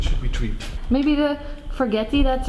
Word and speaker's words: forgetii: Maybe the forgetii that's right there that we talked about a little bit. Forgetii, yeah, you're pronouncing it.